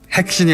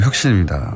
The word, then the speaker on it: 혁신: 핵신이 아니고 혁신입니다.